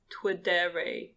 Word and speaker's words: Twidere: For anyone listening that cares about Twitter, the best Twitter app is Ternary. It's spelled TWIDERE will be linked in the description.